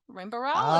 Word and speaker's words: Rainbow Rowell: Rainbow Rowell?